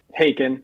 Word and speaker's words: Haken: Like I was into like some like Prague rock and stuff like I liked Hackin or Haken, however you pronounce it. Haken.